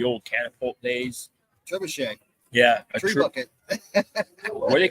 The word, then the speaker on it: trebuchet: Tree bucket. What do they call that? Trebuchet. A trebuchet. Spelled like a tree bucket.